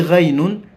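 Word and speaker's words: غين: kwa muundo ni sawa lakini kuna nukta imeongezeka inaitwa ghainun ghainun hii ghainun inatamkwa gha ghi ghu okay asalamu alikum usisahau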